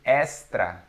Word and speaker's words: Extra: just a word so i would say extra extra yeah extra we say estra estra estra estra so why is